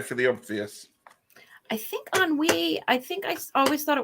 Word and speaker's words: ennui: Put your party hat on, because it's ennui. It's what? Ennui. Ennui. Ennui. How do we spell that?